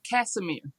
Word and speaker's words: Casimir: um Casemir Casemir and she's the founder of Powerful Petals and